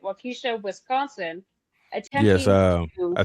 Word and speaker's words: Waukesha: Davis Park in Waukesha, I believe that's how you say it, Waukesha, Wisconsin, Yes, attempting to, I think Drake made a song with Waukesha in it.